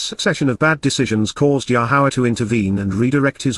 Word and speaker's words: Yahowah: his fire and brand Beth 1313 so w yahwah yahwah the proper pronunciation of the name of our eloa God